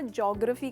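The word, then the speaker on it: geography: इसको हमने हमेशा ज्योग्राफी कहा है, पर इस वर्ड के 4 हिस्से हैं, जी-ओ-ग्र-फी, जियोग्राफी।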